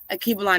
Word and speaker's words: Alkebulan: Akibalan is spelled Alkebulan.